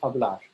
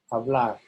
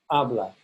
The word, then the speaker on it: hablar: So here I've populated one of these charts with the verb hablar, to speak. Notice I've underlined the stressed syllable. So in the infinitive, the AR ending is stressed. Hablar, not hablar, hablar.